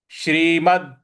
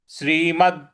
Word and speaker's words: श्रीमद्: इस प्रकार से बोलेंगे श्रीमद् श्रीमद् जो म के बाद द है इस पर हमको आघात देना है श्रीमद् भगवत भगवत जो व